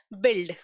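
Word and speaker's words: build: Okay, चलिए let's see the examples now, एंड the very first example is बिल्ड। बिल्ड, हम यू का pronounce नहीं करते।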